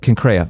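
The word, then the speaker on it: Cenchreae: Concraa.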